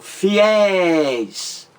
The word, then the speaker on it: fiéis: Outro exemplo, fiéis. Fiéis. Duas sílabas. A mais forte é a última sílaba da palavra.